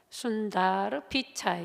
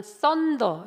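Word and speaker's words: Sundar Pichai: 이분이 인도 분이셔서 이름이 순다르 피차이 이렇게 발음하더라고. 또 어떤 어 언어권에서는 썬더 이렇게 발음하기도 하는데 아무튼 그런데 이분이 어 한 기자와 인터뷰를 한 내용이 있었습니다.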